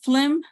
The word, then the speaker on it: phlegm: Going to the blue guide, phlegm is pronounced as phlegm with an F and L. Always you see P and H together. The pronunciation sounds like an F in Spanish, okay?